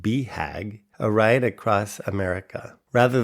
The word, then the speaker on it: BHAG: Alan's 40 years of cycling experience culminated in 2022 when he attempted his Big Hairy Audacious Goal, pronounced BHAG, a ride across America.